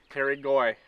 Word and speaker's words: Terry Goy: Terry Goy Fish Hut Rentals. Terry Goy? Terry Goy.